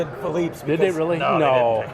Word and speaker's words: Philippe's: So it's Felipe or Philippe? We call it Philippe's. Most people, half people call it Philippe's. So we don't care how you pronounce it as long as you keep coming.